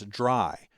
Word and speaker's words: DRY: The first of those is dry code. Now, I'm always going to pronounce that as dry, but it's actually three letters, D R Y, which stand for don't repeat yourself.